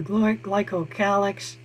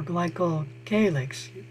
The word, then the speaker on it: glycocalyx: The glycocalyx, or glycocalyx, both pronunciations are correct, is an external secretion made by the cell, and it's outside the cell wall.